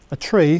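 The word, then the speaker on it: trie: And a tree, that's T-R-I-E in this case, is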